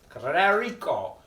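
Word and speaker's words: Clericó: Is it Clerico? Sí, Clerico. The accent means you put the accent on the letter in Spanish.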